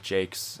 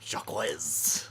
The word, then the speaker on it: Jacques: Brian Jakes, I Yes. believe is how his name is supposed to be pronounced. Jacques Jakes. I used to pronounce his name Jacques.